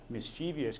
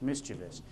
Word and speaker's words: mischievous: or mischievous because a common misconception is it's mischievous because that's how it's spelled but it's actually pronounced mischievous and you can look it up in here